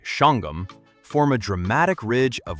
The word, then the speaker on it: Shawangunk: The Shawangunk Mountains, locals say Shangum, form a dramatic ridge of white quartz site rising above the Hudson Valley.